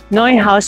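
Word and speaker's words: Neuhaus: Noy house ang pagkaka-pronounce.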